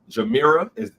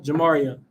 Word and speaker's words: Jamaria: Jamira, did I say it right? Jamira? Jamaria. Jamaria. See, I'd have said it wrong and I'd have felt like an ass.